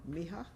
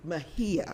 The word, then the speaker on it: Mejia: And then I also recognize posthumously Miss Priscilla, and I always say it wrong, Mia, who actually was Mejia.